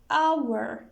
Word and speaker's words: hour: noun also we have our it begins with h but it is pronounced like our it is silent h is silent so we write m